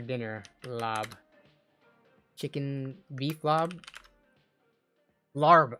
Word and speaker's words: larb: Chicken lob. How do you spell lob? They're asking what's for dinner. Lob. Chicken beef lob. Larb. Oh yeah, it's spelled larb.